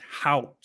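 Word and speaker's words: Haut: with the uh vocabulary it's h-a-u-t so it's hot out that's how you do it drivers a lot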